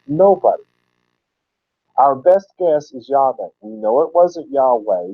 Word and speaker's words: Yahweh: course it does it when you take those valpo knees kind of force them into God's name have to change the bow point so it comes out in yellow by which slangs he slurs to Jehovah so the Jehovah's Witnesses